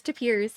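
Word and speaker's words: tapir: They're pronounced taper. Huh. Yeah. I was going to say we used to always pronounce it wrong and I didn't. It's tapers.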